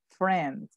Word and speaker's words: friend: invitados a obra amigos se pronuncia friend la y no suena frame a frame ya